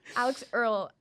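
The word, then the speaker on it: Alix Earle: Alex Earl.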